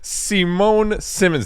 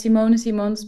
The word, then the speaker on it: Simone Simons: Today we're joined with Simone Simmons. Did I say that right? Yeah. The Dutchies would pronounce it as Simon Simones, but I go with Simmons is fine.